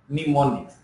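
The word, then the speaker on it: mnemonics: say Assembly Language uses pneumonics here m is silent we can say or we pronounce as pneumonics to represent lowlevel machine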